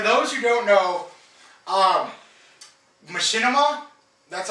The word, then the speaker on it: Machinima: real quick for those who don't know um Machinima that's how you say it yeah yeah Machinima